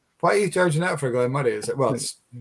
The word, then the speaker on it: Glen Moray: as well surely because everybody must look at that and say Glenn Mory and not Glenn muray because that's a very